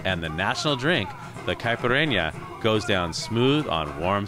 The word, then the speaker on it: caipirinha: So now, this drink we're making today is called, is it caipirinha? Caipirinha.